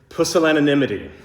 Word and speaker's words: pusillanimity: made up by Bo, I'm saying it correctly, pusillanimity.